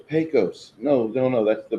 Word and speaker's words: Pecos: in the West, and everybody mispronounces Pecos. It's Pecos.